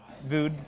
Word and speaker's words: Voogd: Yeah, the G is silent. But D is silent. The D is silent. Oh yeah, that's right. Yeah. But you pronounce it better than 99% of people, so you did a good job.